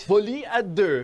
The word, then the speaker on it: Folie à deux: I'm French, so I can pronounce it correctly. I bet that's the first time you heard that correctly.